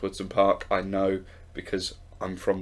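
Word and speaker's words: Wodson Park: pull me up on although it looks like it says Watson park it is pronounced words in park I know because I'm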